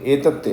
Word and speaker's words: एतत्ते: एतत्ते आधा ता पूरा ता।